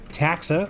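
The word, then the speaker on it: Ptaxa: red terran we have taxa obviously the p is silent just like pterodactyl because why not and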